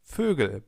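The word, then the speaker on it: Vögel: of different words like fugal birds. Try to pronounce an o. So the German version of an o and then round your lips and you get fugal.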